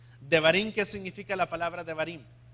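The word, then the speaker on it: דברים: palabra Deuteronomio odevarín es Cómo se dice Deuteronomio en hebreo se los acabo de decir verdad de barín devarín Qué significa la palabra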